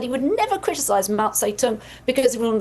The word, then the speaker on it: Mao Zedong: But she did actually say Mount Zedong. She tried to say Mao Zedong or Zedong, right? And she said Mount Zedong.